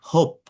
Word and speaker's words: hope: I not hope, অ ও ও যে সাউন্ডটা, এটার উচ্চারণটা জাস্ট ও, একটু টান দিবেন।